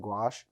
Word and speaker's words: gouache: that is known as gouache. So how that's spelled is G-O-U-A-C-H. When I first saw it, I mean, I still have trouble, but I think of a squash and gouache.